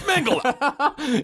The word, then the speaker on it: Mengele: Yeah, it's like Mengele sounds like a fun vaudeville performer and Mengele sounds like a freedom fighter. It's Mengele.